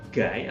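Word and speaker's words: 甲斐: Terus kemudian gai atau kai gitu sama pelafalannya. Nah, kai ini dia memiliki arti nilai.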